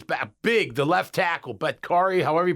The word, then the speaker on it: Bakhtiari: Bakhtiari, however you pronounce his name. Bakhtiari, thank you.